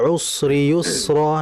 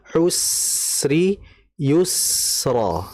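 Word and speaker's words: العسر يسرا: tadi seperti terdengar tebal usri yusro. Nah, harusnya usri yusro. Nah, jadi sinnya dibaca tipis saja.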